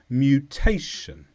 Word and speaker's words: mutation: this is a noun the stress is on tay mutation and this describes a change